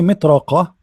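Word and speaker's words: مطرقة: When I say mitraqa, mitraqa, I did not pronounce almost the ta at all.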